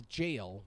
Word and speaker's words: gaol: it differently here that's it's a jail but g a o l go figure they have